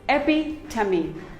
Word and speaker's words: epitome: none of them is correct it is simply pronounced as very epitome it is not epitome it is epi tummy epi tummy epitome we all have a friend